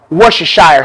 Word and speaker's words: Worcestershire: i'm using lee pyrene this is how you pronounce it worcestershire sauce now let's go ahead and start mixing